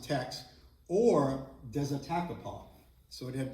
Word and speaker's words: Teche: river thex or again it would be pronounced Tex or desopo so it